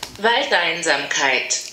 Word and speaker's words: Waldeinsamkeit: Waldeinsamkeit. Waldeinsamkeit. I think that was good pronunciation of me.